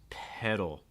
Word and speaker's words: pedal: here pedal pedal Noti this is kind of like a fast D type sound so you don't need to um hold on to that D super long pedal pedal so it doesn't need to be ped that's way too strong for a d okay you can make